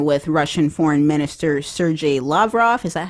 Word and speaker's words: Lavrov: about having dinner with Russian Foreign Minister Sergei Lavrov. Is that how you pronounce it? Yeah, Lavrov.